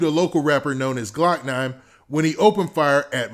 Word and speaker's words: 9lokknine: year old jacobia smith whose stage name is pronounced glock 9 because the two men